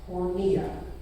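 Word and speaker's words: πορνεία: And the Greek word Paul uses here for sexually immoral, it's pronounced porneia. Now you all get one guess what English word we derive from that. Pornography. Like it or not, the word porneia is used in Greek to describe more than just sexual intercourse.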